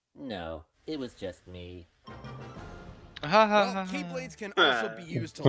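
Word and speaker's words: χ-blade: explosion from when the keyblade was destroyed yeah it means the x-blade it's just pronounced like keyblade even though it's just one keyblade ah the series is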